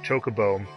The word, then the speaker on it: chocobo: was still weird on the pronunciation of chocobo really kind of puts it to rest because when you first come here there's all these scripted stuff where people say chocobo over and over and over and the